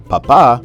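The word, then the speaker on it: papá: Papa means potato, while papa means dad. In other words, you must pronounce the second a with a prominent high intonation, otherwise you'll find yourself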